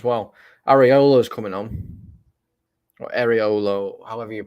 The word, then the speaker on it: Areola: Or Areolo, however you pronounce his name.